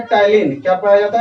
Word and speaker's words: ptyalin: या तो इसी को टाइलिन बोलेंगे। और देखिए टाइलिन में पी साइलेंट होता है, PTYALIN लिखेंगे, टाइलिन इसको बोलते हैं। पी इसमें साइलेंट रहेगा, ठीक है।